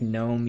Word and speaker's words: gnome: Because I know, like, gnome, you don't pronounce the G.